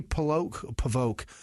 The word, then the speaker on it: Polvogt: Polvogt. No, GT. Okay, yeah. Yeah, it's Polvote.